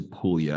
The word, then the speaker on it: Puglia: know where pulia is it's spelled with a G and it's in Italy so it's like it's like Puglia just don't call it just don't call it Puglia in 2021 you decided